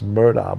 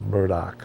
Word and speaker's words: Murdaugh: spelled m-u-y-d-a-u-g-h which you would think would be pronounce Murda but it's pronounced Murdoch so and his his name is spelled a-l-e-x